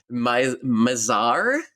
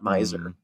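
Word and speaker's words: Mizar: this is the the a Mazar uh pronounced like the star not Miser um and so there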